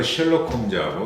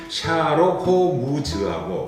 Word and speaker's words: 셜록 홈즈: 노벨상 받은 이 작가가 나한테는 셜록 홈즈하고 영국식 발음으로 셜록 홈즈하고 일본식 발음으로 샤록 호무즈하고 호무란 그러잖아요.